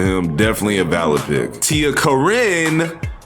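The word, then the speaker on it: TiaCorine: definitely a valid pick Tia Karin not Karen because I was so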